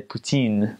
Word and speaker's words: poutine: it pin pin Well, in France you would say poutine, but in Quebec they say poutin.